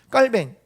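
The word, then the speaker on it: Calvin: 이야기하고 있는 말은 무엇일까요 깔 뱅 종교개혁자 인 이빨 뱅 칼빈이 라고도 우리가 부르는 데 보통 발음이 깔 맹 이래요 그래서 깔 밴 이라고 하는데 깔 명에 이렇게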